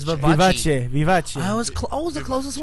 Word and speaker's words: Vivace: Look at that. How it's spelled. Italian Yeah. would be Okay. Vivace. It's Vivace.